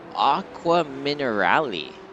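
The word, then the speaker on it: Acqua Minerali: That's Aqua Minerali.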